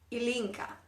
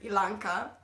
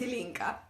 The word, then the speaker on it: Ilinca: pronouncing your names right my name is elinka that's how you pronounce it um I've heard many variations on my name I've heard elanka I've heard um Ilona that's nice but my